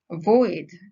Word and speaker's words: avoid: avoid, 다음은 avoid. 어는 강세가 없어서 아주 약하게 발음하시고 void를 강하게 발음해 주세요.